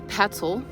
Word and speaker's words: Petzl: This is a Petzl. Also rhymes with pretzel.